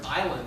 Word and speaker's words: island: silent letters it's like in the word island there's a silent s in the word column